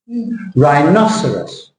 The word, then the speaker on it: rhinoceros: right caterpillar different decoration rhinoceros rhinocerus RH that's you got it that's good can you say rhinoceros RH good you're still saying sorus at the end sorus sorus yeah we'll talk about